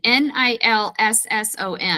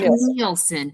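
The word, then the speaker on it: Nilsson: So, it's it's spelled Nilson. N I LS O N. Yeah. Not Neielson, but Nelson. Nilson.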